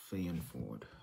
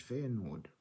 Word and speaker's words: Feyenoord: of Man City versus F Ford I think I said it right let me check F Ford right or F Ford is it f Nord oh F Nord F Nord all right f e y